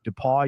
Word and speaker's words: DePaul: Am I pronouncing this right, Mike? DePaul University? That's right. Okay, DePaul University.